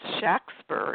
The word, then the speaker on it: Shakespeare: but he was born with that name William Shakespeare actually pronounced Shack spur if you look at the documents of the